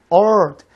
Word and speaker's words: earth: 근데 이제 듣기 같은 데서 미국식 발음할 때 earth th 발음 죽어요.